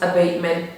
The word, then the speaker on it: abatement: again, and right now I always say noise abatement procedures. So you can imitate the pronunciation of a word or a text or even a song.